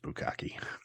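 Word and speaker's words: bukkake: one is it's b-u-k-k-a-k-e what is that that's pronounced bukaki what is that do you know what it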